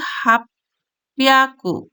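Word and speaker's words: 八百: 8 আছে 100 এর ঘরে, তাহলে সেটাকে আমরা পড়বো কি হাপিয়াকু, কিন্তু লেখা আছে কি হাচি এবং হিয়াকু।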